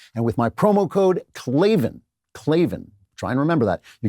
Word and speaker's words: Klavan: Sound it out. It is Klavan. There are no E's in Klavan.